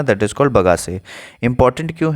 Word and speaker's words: bagasse: एक वर्ड है sugar cane से रिलेटेड, दैट इज कॉल्ड बगासे। ठीक है, जस्ट अ सेकेंड मैं लिख रहा हूँ, स्पेलिंग इज BAGASSE, बगासे।